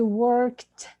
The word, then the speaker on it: worked: It's not T, but it's a K, but I worked. It's a D, but we pronounce it a T because it's K before it. Okay, so I worked.